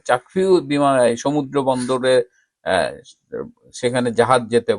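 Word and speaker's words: Kyaukphyu: itself has a seaport চাকফিউ যেটা চাকফিউ বলে হলো তাদের লোকাল উচ্চারণে চাকফিউ সমুদ্র বন্দরে সেখানে জাহাজ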